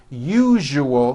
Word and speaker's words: usual: are not being understood let me show you how to pronounce the word usual correctly break it up into three syllables you jus oh that second syllable jus the one with the underline needs to be voiced put your hand on